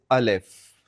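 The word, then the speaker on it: الف: The first letter of the Udu alphabet is al if the opening sound of al if is like the A in father alif.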